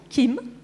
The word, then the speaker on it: Kim: Hein, c'est comme ça qu'on prononce Kim.